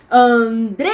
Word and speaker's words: Andresa: Andresa. Gente, Andresa tem quantas sílabas? Andresa. São 3 sílabas. Bem, a sílaba tônica é a do meio, ela é a penúltima, então ela é uma paroxítona.